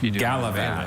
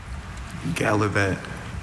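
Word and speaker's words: gallivat: Galavat. It's from Shreveport. Galavat. I have all the information. Galavat has only that pronunciation.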